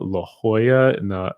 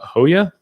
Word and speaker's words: La Jolla: i'm being told that i pronounced it wrong la jolla so mount salad mount soledad and la jolla uh hoya or hoya distracted lawyer is going